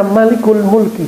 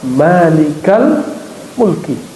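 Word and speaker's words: مَالِكَ الْمُلْكِ: Kalau kata-katanya sudah bentuk idhofah, mudhofun ilaih, ya frase barangkali dua kata, maka tidak dibaca malikul mulki, bacanya ya malikal mulki.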